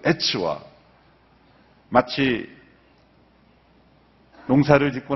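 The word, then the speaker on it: עץ: 나무라는 단어가 히브리어 발음으로 에츠 이렇게 츠로 끝나요.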